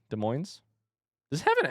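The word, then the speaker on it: Des Moines: It has an S, but it's not pronounced.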